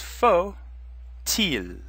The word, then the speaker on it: faut-il: But because faut now comes before il, the T sound is going to turn on because il starts with the vowel. So it would be pronounced faut-il.